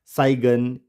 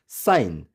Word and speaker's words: sign: For example SINE, इसको हम साइगन या सिगन इस तरह से प्रोनाउंस नहीं करेंगे, राइट प्रोनाउंसिएशन होगी साइन।